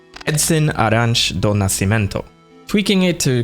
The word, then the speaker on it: Arantes: inspiration from all-star footballer Pelé's real name, Edson Arantes do Nascimento, tweaking it to create Samus Aran. And though his name is pronounced Arantes, the pronunciation of Samus's surname is confirmed to be Aran.